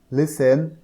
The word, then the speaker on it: listen: এরপরে দেখো বি নম্বরে বলা হচ্ছে লোক, LOOK, লোক, লিসেন, LISTEN, LIS, লিস, TEN, টেন, কিন্তু একত্রে হবে লিসেন। টি এর উচ্চারণটা হয় না।